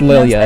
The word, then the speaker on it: Lilia: Yeah, it's Lilia. It's name? German. What? Yeah, these are both German names.